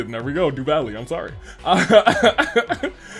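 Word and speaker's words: Duvalie: Uh Stall's R names Stalls Ritter rather names are pronounced as Duvali uh pronounced Duv Valley. There we go. Duvali.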